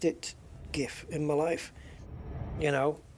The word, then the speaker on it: GIF: the on the screen it says it's next screen pronounced and the whole audience was waiting and it came out JF with a J and the audience just